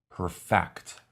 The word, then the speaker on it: perfect: nothing less than perfection this word can also be a verb but in this case the accent is on the second syllable perfect she perfected her pronunciation